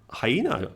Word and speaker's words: hyena: I have learned today Hina here hyena right like hygiene hider okay could you google